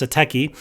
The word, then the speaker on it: Satechi: Satechi, I keep saying it wrong, but it's Satechi.